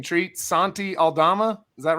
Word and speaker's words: Aldama: Treat Santi Aldama?